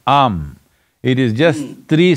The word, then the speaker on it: Aum: It is not to be said as Om, it is Am.